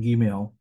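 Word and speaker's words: gimel: change between the two it's going to be a just a g sound it's not G is in giant it's G is in Goat or go or something like that it's a hard G sound Gil is a hard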